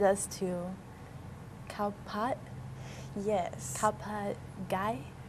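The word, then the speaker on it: ข้าวผัดไก่: Khao pat gai. Yeah, gai. We were told to make sure we say that right, because if you say it wrong, you could accidentally say egg. Right. In Thai.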